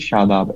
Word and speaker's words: Shadab: used sh lot name my name is shadab s h a d a b shadab is how you pronounce it yeah okay do okay